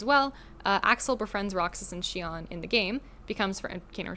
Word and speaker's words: Xion: And then Xion, hers, when I was a kid, I pronounced it Zion, or Exion, because I didn't know how to pronounce it. It's just Xion.